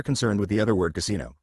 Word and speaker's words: casino: with the other word Casino pronounced confusingly with the stress on the penultimate syllable in exactly the same way as the English word back asterisk two now